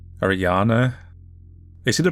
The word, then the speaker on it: Ariane: loved reading these so considering that this game is pretty much all German I guess that would be pronounced like Ariana they seem to pronounce